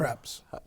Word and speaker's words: Kreps: Kreps. It's Kreps. Kreps. Kreps. It's phonetically correct. Kreps. K-R-E-P-S.